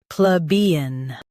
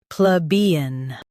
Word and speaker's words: plebeian: Plebeian. Now read the syllables shown on the screen naturally. Pl, B, un. Plebeian. Focus on B and keep pl soft.